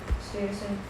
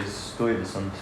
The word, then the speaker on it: Stuyvesant: When the colonists complained, Stuyvesant retorted, "I'll cut off your head and What?